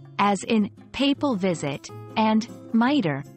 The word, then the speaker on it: mitre: in papal visit and miter like my tear remember context is key